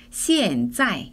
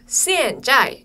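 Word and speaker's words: 现在: 자이는 지금 현재라는 뜻이고요 둘 다 위에 에서 아래로 뚝 떨어뜨리면서 발음하시면 돼요 시엔짜이 이렇게요음 시앤 자이 이렇게요 어 근데 두음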